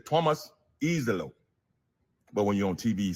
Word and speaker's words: Iisalo: head coach Thomas Eelo because the pronunciation says Thomas Eelo.